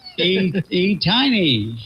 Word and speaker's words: Etienne: Leon Etienne. Thank you for pronouncing that, because I did not know. That's right. Yeah. E Tiny.